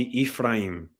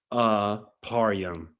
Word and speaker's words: Ephraim: Here's the pronunciation literally right there. Eph raim. Ephraim or Ephraim. Nothing even closely sounding remotely to Aparium.